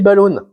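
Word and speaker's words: balloune: Ici, ils appellent ça des balloons. Ça s'écrit B L O U N E E N E S. C'est pas des balloons anglais, c'est des balloons québécois.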